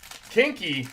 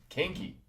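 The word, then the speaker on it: Koenke: Kinky. Yeah, it's spelled uh totally different, but he told me that that's how it's pronounced. Uh K O E N K E. Kinky.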